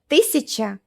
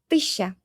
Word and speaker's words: тысяча: Instead of saying тысяча, 1000, we say just тысяча, тысяча. У меня с собой 2000.